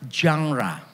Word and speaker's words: genre: Kalau yang membacanya benar seharusnya jangra gitu. Jadi jangra kalau saudara nanti agak pilek pasti bacanya lebih mudah.